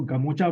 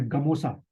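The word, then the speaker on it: gamosa: गले में जो है, जिसको गमोचा बोलते हैं या गमोसा। ठीक है, इसका एक्चुअल में जो प्रोनाउंसिएशन स्पेलिंग बनेगी वो गमोसा बनेगी, तो वो वहाँ पहना जाता है।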